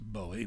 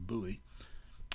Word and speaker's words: Bowie: Also present was the guy on the upper right, Jim Bowie, sometimes pronounced Bowie, but more often Bowie, who was, he had